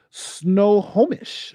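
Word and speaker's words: Snohomish: greatest idea i've ever heard of kimberly says snow homish oh nice thanks that's how it's pronounced thank you kimberly mother of is that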